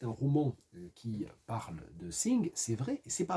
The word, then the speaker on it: Synge: Ça se prononce Synge, ça s'écrit S-Y-N-G-E, The Playboy of the